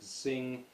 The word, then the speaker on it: Xing: I think it's pronounced Sing, although it's Xing.